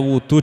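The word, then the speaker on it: وضوء: Nah, jadi di sini bacanya wudu dengan dibaca dhammah wawunya wudu.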